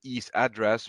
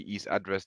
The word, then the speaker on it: EASE Address: are covered in an e's address but i think this is what you uh you you uh uh pronounce it wrongly ease address this is the simple